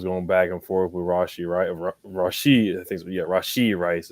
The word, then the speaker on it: Rashee Rice: You saw Pat Mahomes going back and forth with Rashee Rice is how you pronounce it.